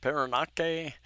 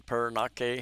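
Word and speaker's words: Parañaque: of a village in Paranaque, if I pronounce that correctly. Paranaque, the way you say that N.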